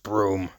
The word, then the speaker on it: Broom: Trevor Brutenholm, pronounced Broom, who's some kind of a paranormal whiz kid.